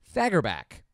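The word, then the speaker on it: Fagerbakke: Thursday October 4th voice actor and actor bill fagor back and I looked it up the tight pronouncing you pray is gonna be 61 on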